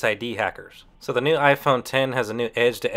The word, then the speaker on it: iPhone X: the Apple iPhone 10 although the new iPhone is written down on paper as iPhone X it's pronounced iPhone 10 the iPhone 10 features